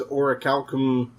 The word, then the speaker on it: orichalcum: So is orichalcum, if I'm butchering that word, I apologize.